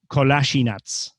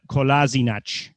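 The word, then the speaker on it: Kolašinac: interview he said that there really are two pronunciations because from the bosnian point of view it would be zead kolasinac in german say kolasinac slightly different but he said in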